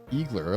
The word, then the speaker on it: Eagler: Eagler, that rhymes with evil.